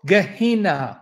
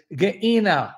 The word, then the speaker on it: Gehenna: They don't go Gehenna. It's Gehenna, right?